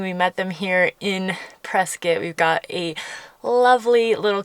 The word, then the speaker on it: Prescott: us we are in Prescot Arizona and just as an aside it is presc not Prescott as in rhymes with biscuit or brisket I will